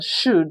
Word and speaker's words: should: Let's start from the last option, should. Should is a past modal auxiliary. So, like we read in Mastering Oral English, that the L in should, would, could is silent.